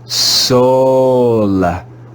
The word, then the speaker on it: soul: o in this word the two letters o and u are read as a long o o this word is read soul soul in this word we